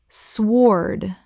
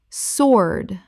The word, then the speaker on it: sword: psychology psychology Word 181: sword Common mispronunciation: swoard Correct pronunciation: sword The W is completely silent. It rhymes with lord.